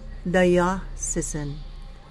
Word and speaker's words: diocesan: Ang kalimitan pong mali ay diocesan, kasi sinasabing diocesan, hindi po diocesan. Diocesan. Again, yung tunog ng A doon, wala po. Sin.